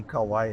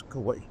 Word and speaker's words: Kauai: said, you know, Spark, you can't say Kauai anymore because that's not politically correct. Got to go back to the original pronunciation, which is Kauai.